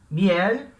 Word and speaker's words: miel: Miel é uma palavra que é de uma sílaba, miel, embora a gente tenha o ímpeto de separar, né? Miel, em espanhol isso não vai acontecer, vai ler como se fosse uma coisa só, miel, então uma sílaba só, e termina em consoante,